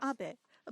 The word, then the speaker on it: Abe: over to the White House my name is Abbot a but in the United States some people mistakenly pronounce my name is ape but that is not bad the more because